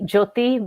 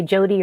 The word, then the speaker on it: Jyoti: do you pronounce it it's actually jyoti but a lot of people who are not uh punjabi or hindi have a hard time with it so they say jody or jyoti but it is actually